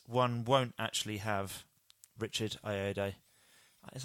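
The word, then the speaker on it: Ayoade: but yeah this one won't actually have Richard I a day is how you say his name ird ird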